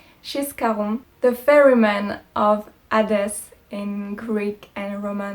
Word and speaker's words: Charon: C'est Charon je vais le prononcer à la française désolé, c'est Charon le passeur d'Hadès dans la mythologie grecque et romaine.